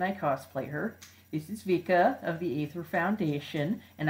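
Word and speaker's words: Wicke: or apparently it's like Vika cuz apparently it's pronounced like it would be in German which is very strange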